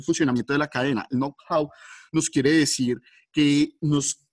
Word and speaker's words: know-how: Se pronuncia know-how.